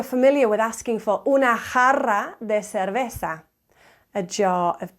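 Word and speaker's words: jarra: um maybe you're familiar with asking for una Hara de cerveza a jar of beer yeah a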